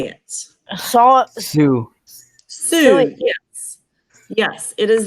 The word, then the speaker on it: Sioux: Saw Sioux.